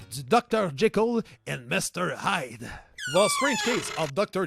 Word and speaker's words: Hyde: Fait intéressant, le nom du personnage Edward Hyde s'écrit H-Y-D-E, mais se prononce aussi comme Hyde, H-I-D-E, qui en anglais signifie cache, du verbe cacher.